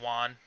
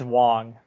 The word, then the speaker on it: Wong: I understand Tilda Swinton, Mads Mikkelsen, Benedict Cumberbatch, obviously, the guy who played Juan, or Juan, however you pronounce his name. Yeah, it's Wong. Juan, yes. Wong with a G.